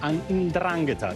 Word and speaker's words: 'Ndrangheta: Now, all the defendants were affiliated to the 'Ndrangheta, the organized crime syndicate from the southern region of Calabria. This is how you pronounce it, actually.